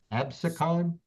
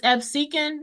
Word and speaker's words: Absecon: How do you pronounce that? Absicon? It's Absecon and Galloway, but Galloway is the one I'm in.